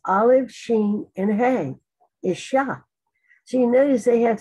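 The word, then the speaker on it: אִשָּׁה: That's for man, it's pronounced Ish. For woman, it's Olive, Sheen, and Hay, Isha.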